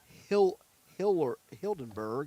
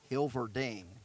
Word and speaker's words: Hilverding: Hitting 7th will be Jace Hildenberg, and I'm going to get the pronunciation here on that. He will be playing first base, and it's Hilverding. Sorry, it's Jace Hilverding.